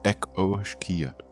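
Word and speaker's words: each-uisge: The each wiske pronounced echoia the water horse.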